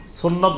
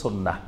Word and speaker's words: সুন্নাহ: আম জনতা সবাই চিনে সুন্নত বললে সবাই চিনে সুন্নাহ বললে আবার অনেকে নাও চিনতে পারে সাধারণ মানুষ তো এজন্য বেশি পরিচিত আমাদের দেশে সুন্নত নামে কিন্তু এটা শুদ্ধ আরবি উচ্চারণ হলো সুন্নাহ সুন্নাহ মানে হলো তরিকা